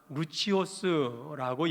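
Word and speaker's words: Lucius: 루기오는 그레데 섬에 구레네 출신으로서 로마식으로 발음하면 루치오스라고 얘기합니다.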